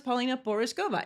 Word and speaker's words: Pavlína Pořízková: And then I guess people added my last name to it and learned how to pronounce it. Not everyone can actually have this. Yeah, no. Now everybody goes Pavlína Pořízková. It's not that complicated.